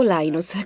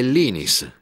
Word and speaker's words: Linus: Linus torval Linus o Linus Qual è la pronuncia esatta quando parlo svedese è linis quando parlo finlandese è Linus e quando parlo inglese è Linus interess Come viene pronunciato